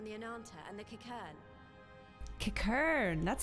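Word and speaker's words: Qiqirn: Kikern, that's how you say it.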